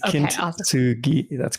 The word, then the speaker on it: Kintsugi: Kintsugi. That's correct. Kintsugi.